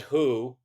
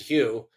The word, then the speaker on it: Hu: stands for human yep a lot of people call it who um despite our best efforts to get you to pronounce it Hugh yeah uh Hugh stands